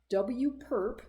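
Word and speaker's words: W⊥: in W so here's the actual mathematical definition W perp that's how it's pronounced W perp is the set of all X in RN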